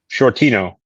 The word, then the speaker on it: Shortino: Can you pronounce that? Shortino. Holy! Get the fuck out of here! I just knocked over my chair. You're like one of two people in an entire fucking year that can pronounce that correctly. You just nailed it.